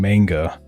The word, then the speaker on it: manga: There's literally a, I, u, e, o. It's the easiest language to pronounce. Ka, ra, o, ke. A, ni, me. Ma, n, ga.